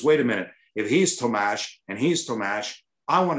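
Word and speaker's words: Tomáš: on the air now everybody wants to be tomasz tomash to targe they liked it better because chats loved when i said his name tatar so you know you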